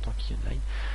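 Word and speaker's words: Tanki Online: tanky online voilà ici tanky online comme ça se prononce tanky online donc c'est ici normalement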